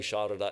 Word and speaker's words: Sarada: So she is Sharada, but it's now written as Sarada, which is pronounced in Bengali Sharada anyway.